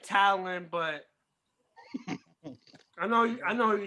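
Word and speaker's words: Taillon: Oh, you say Tyone. I pronounce it Talon, but I know who you're talking about.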